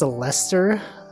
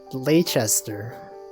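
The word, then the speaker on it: Leicester: weird British people strange this pronounced Lester it looks like it should be pronounce leester ler leer I do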